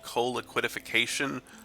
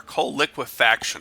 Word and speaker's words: coal liquefaction: forums this is a I think it's called Cola quitte fication our coal liquefaction I've been pronouncing that wrong the whole time the goal